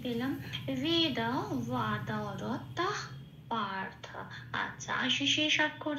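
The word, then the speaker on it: বেদবাদরতাঃ: তাই সাথে জুড়ে এটাকে উচ্চারণ করব তাহ, এরকম বলতে হবে। তাহলে হলো কি, শব্দটা কি পেলাম? বেদা ওয়াদার তাহ, এটা।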